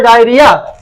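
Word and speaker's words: diarrhoea: পারে, দেয়ার maybe ডায়রিয়া, ডায়োর হইয়া কিন্তু উচ্চারণ হবে ডায়রিয়া।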